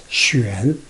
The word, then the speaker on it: Xuan: But X-I-U-A-N, Xuan, instead of Y-U-A-N. Y-U-A-N, that's Yuan. But X-I-U-A-N, that's Xuan, Xuan.